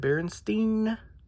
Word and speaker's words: Berenstain: kid berenstain bears um i said berenstein i'm not from an alternate universe where it is stained um regardless of whether they want to spell it like that or not there's supposed to be an e there not an a um so that's the